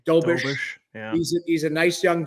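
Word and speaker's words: Dobeš: They've got the young guy, Jakob Dobra, or I butchered his name, Dobish.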